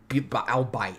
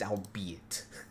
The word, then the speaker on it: albeit: shows what I mean alite it's albeit I mean considering I